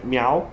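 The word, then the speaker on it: 苗: Essa parte aqui se pronuncia miau, né? No segundo tom, né?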